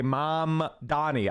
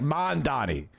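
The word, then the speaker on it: Mamdani: I have to try so hard to say mom Donnie. I'm like man Donnie.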